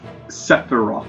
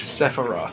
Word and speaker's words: Sephiroth: It's Sephiroth. Sephiroth. S E F I R O T H. Sephiroth. As in seraphim and then off.